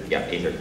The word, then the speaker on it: aether: But regardless of what level of technology exactly, whether it's steam-derived or aether. Some people pronounce it ether, but that's something different.